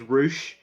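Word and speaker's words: Rouche: correctly for some reason his name is spelt ro you see AG which it's just douche but with an R right so it's Roush one of the characters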